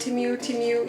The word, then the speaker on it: Temu: Yes, Temu, I think it's how you pronounce it. Temu, yes.